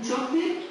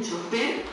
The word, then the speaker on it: chofer: La persona que conduce un vehículo es un chofer en España y un chofer en América. La misma palabra, pero con el acento en una sílaba diferente. Chofer, chofer.